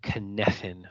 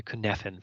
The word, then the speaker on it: Cynefin: So this is called the Cynefin framework, or the Cynefin framework. I know it's spelled Cynefin, but it's a Gaelic word that means place of multiple belongings.